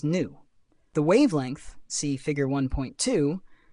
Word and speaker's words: nu: pronounced as Lambda and frequency pronounced as new the wavelength see figure